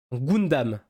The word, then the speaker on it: Gundam: m'a mis tellement bien le U prononcé en ou Gundam Gundam moi je dis